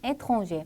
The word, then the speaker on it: étranger: 단어 끝에 위치하는 R는 발음이 되기도 하고 안 되기도 합니다. 그래서 발음이 되는 경우를 체크해 주면 되겠네요. 1번 dîner, 2번 hiver, 자 발음이 되죠. 답은 나왔고 3번 cahier, 4번 janvier, 5번 étranger, 발음되지 않습니다.